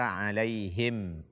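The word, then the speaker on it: عليهم: ini yang pertama adalah tidak membaca ha dengan jelas pada kata alaihim alaihim alaihim bukan ada Im Ih ada diantara kaum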